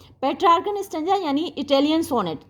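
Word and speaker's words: Petrarchan: कई बार कुछ लोग पेट्रार्च भी, क्योंकि CH है ना इसकी स्पेलिंग, तो कुछ लोग पेट्रार्च भी इसको प्रोनाउंस करते हैं।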